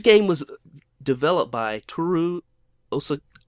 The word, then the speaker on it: Osawa: So this game was developed by Toru Osawa. Osawa, yes, okay.